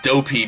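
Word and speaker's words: Doughpea: Dopey because, well, he's dopey and slow-minded, but also Dopey, which is how his name is spelled, D-O-U-G-H. P-E-A, because he's a baker and he makes, bakery food.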